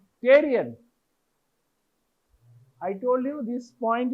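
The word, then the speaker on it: pterion: this point is called Tyrion PPE not t only p t e the p is silent Tyrion I told you this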